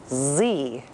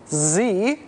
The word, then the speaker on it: Xe: Blackwater, as of today, would prefer to be called Z. Z? Z. Better yet, it is pronounced Z, but it's spelled X-E.